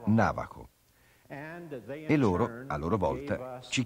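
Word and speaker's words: Navajo: che coltivano la terra il nome è rimasto ancora oggi e si pronuncia navaho loro a loro volta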